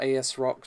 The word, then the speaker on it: ASRock: is important so we have an as Rockwell asrock depending on pronunciation X 370 Taichi motherboard with AP 4.60